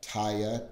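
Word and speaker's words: Teye: If you look for Taya, T-E-Y-E is how the company's pronounced.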